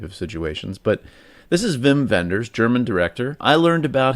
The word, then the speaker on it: Wim Wenders: This one is directed by Wim Wenders, and I'd say it like that because he is German. So when I saw it the first time, I thought his name was Wim Wenders, which sounds like a Star Wars character in one of the